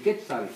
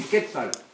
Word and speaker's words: Quetzal: So when you say Quetzalcoatl, now I'm saying Quetzal. Say Quetzal. Quetzal.